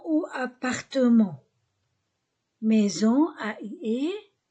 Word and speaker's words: maison: Maison ou appartement. Maison, A-I-E, S entre deux voyelles Z, O-N-O.